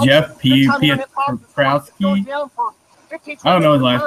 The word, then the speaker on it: Piotrowski: Jeff Pietrowski. I don't know his last name, how to pronounce it.